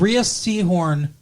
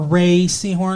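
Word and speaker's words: Rhea Seehorn: up at her and ria seahorn or ray seahorn i think is how she pronounced her name does the the best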